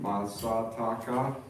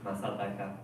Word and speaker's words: Masataka: My name is Masataka. So it might be hard to pronounce it. Even Japanese, it's kind of hard to say Masataka. 4 A sound.